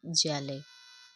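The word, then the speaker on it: Szalay: David जैले। David जैले इस हमारा साइलेंट रहेगा।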